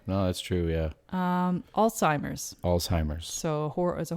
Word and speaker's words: Alzheimer's: that's true yeah um alzheimer's alzheimer's so a is a horrible disease but it's a disease that is also horribly mispronounced at times as old-timers disease what yes what do